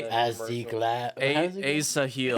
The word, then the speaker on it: Asahel: Hey, do you want to pronounce this name for me, Blake? Yeah. Asahel. ASA Where do you even see him? H Third row down on the far left. ASA. A seal.